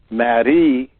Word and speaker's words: Marie: In French, it's pronounced Marie, and all you have to do is spend enough time thinking about this process.